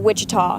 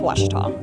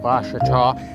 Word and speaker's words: Ouachita: Back in Texas, everybody pronounces it Wichita, but really, it's Washita. Washita. Washita. How would you pronounce it? Washita. Washita.